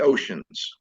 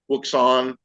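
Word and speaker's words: Wouxun: would look at the oceans uh they call them wson or ocean because it's spelled pretty funny uh that one I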